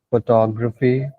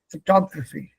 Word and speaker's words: photography: Photography. Photographer. Correct. The stress here is photograph. The st is here. Photography.